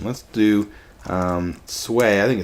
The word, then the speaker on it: Sui: son, Emperor Yang of Sui. So, did I say Sui dynasty? I meant Sui. S-U-I, Sui, Sui, Sui.